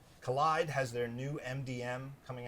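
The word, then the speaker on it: Kolide: contacts out collide which I always want to pronounce kool ID because they spell it Kol IDE but collide has their new MDM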